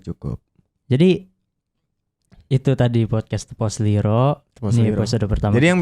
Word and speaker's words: Tepa Selira: Nah, Tepas Lira bacanya Tepos Liro.